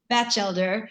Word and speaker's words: Batchelder: and nicholas bachelde sheldor am i pronouncing that correctly can you tell us patch elder batch elder nicholas batchelder in the feature dramatic